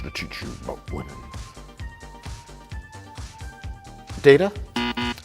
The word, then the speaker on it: Data: You called me Data. I am wearing a Discovery uniform, though. Oh, that explains why you don't know anything about Star Trek. My name. It is pronounced Data.